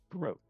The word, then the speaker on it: Sproat: Sproat is the correct pronunciation.